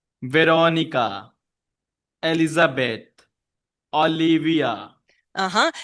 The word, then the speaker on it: Elizabeth: But stress on bum bum on the second. Elizabeth.